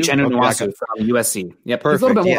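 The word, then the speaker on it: Nwosu: Is it pronounced Nwasu? Nwasu from USC.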